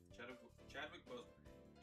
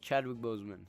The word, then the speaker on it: Chadwick Boseman: Chadwick Boseman. Chadwick Boseman, he said. I said his name wrong. Yes, Chadwick Boseman.